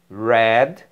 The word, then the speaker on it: read: made made o particípio read a diferença que está na pronúncia tá bom red red sei Olha só o